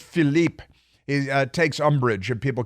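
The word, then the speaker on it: Philippe: hack named Philipe Reigns don't call him Filipe even though it's spelled p h i l l i p don't come Filipe it's just Philipe he takes UMD and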